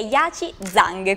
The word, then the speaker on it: Yaqiong Zhang: in fuori onda, quindi dovrebbe essere giusto, che è Yaci Zhang. Quindi buonasera e benvenuta. Buonasera a tutti, piacere di conoscervi. Sono Yaci. L'ha pronunciato bene? Sono stata quasi decente, perché infatti in fuori onda ci spiegavi che tu hai semplificato la pronuncia del tuo nome per quelli che sono